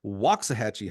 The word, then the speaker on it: Waxahachie: Help me welcome the head coach for Woxahhatchee High School in the great state of Texas, the wise, the wonderful, Miss June Villers.